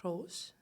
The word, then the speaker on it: Grolsch: My final project in honors was with Grolsch, the beer brewery.